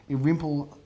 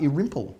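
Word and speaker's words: Irymple: Congratulations to buyer and seller, Philip Irimple Avenue in St Kilda. Competitive auction. Number of buyers rocked up on the day there. Well, what's the name of that street? 2.5. Irimple. Irimple?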